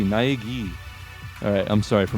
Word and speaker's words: Naegi: Naegi? Is it gi? Wait a minute, this is Japanese. That's not an I, that's an E. Naegi.